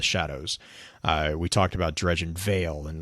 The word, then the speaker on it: Vale: We talked about Dredgen Vale, and like a veil. It's spelled Vale, but it's also it sounds like a veil that you put over your eyes.